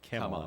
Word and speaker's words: Kamala: Kamala, Like- first syllable, like Kamala. Kamala, is the proper way to say it.